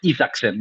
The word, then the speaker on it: Isaksen: see him enough can you talk about Gustav ifakson right pronunciation is correct that was very very good